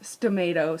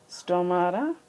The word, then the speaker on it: stomata: And if you want, you can, I wrote stomato, so that rhymes with potato. Someone told me to do something with potatoes today. I don't know what, but anyway, there you go. There's your potato. But it's stomata. Okay.